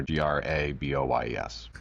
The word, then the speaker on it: Graboyes: I'm sure the name got bastardized at Ellis Island a couple times over, but Graboyes with one Y. Yeah, so it's not spelled like the color, Graboyes. Well, it's pronounced that way.